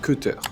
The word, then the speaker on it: Keter: Parce que je disais Keter et en fait c'est Cutter, si j'ai bien compris.